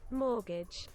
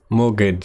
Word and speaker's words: mortgage: pronounce that word wait let me just pronounce pronunciation mortgage mortgage so if you do that the you can't